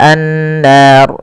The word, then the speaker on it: النار: Kemudian pelafal an-nar. Di sini ada gunnah. Pada lafal nun, cara membacanya yaitu ditahan suara nunnya. Ashabun bun, baru lepas nar. Dan ro di sini kita hukumi dengan ro tafkhim. Ro yang tebal. Tidak boleh dibaca dengan ro tipis.